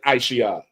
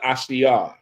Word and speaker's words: Ashia: No, don't say Aisha. Officer Ashia. Yeah, that's how you say it.